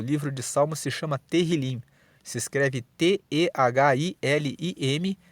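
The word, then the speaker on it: תהילים: Em hebraico, o livro de Salmos se chama Terrilim. Se escreve T-E-H-I-L-I-M e Terrilim significa louvores.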